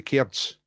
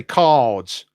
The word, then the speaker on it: cards: Yes, Ed, we say, up here in Scotland, we say cairds. Oh, you think it's a mistake? No, it's deliberate. It's just how we pronounce cards. You say cards or something like that.